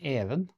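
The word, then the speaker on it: Even: And we also have the male name Evan.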